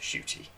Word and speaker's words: Ncuti: psa for anyone who doesn't know it is pronounced shooty so firstly i thought i'd just discuss you